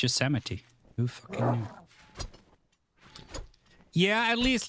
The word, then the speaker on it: Yosemite: I heard about uh Yosemite I didn't understand because I always thought it was a josomite park but apparently it's Yosemite yeah at least like